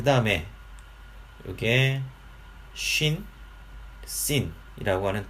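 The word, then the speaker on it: שׁין: 이게 래쉬다라고 하는 것이고, 이거는 R 발음으로 표기를 하시면 되겠습니다. 그 다음에 이게 쉰, 신이라고 하는 두 글자인데요.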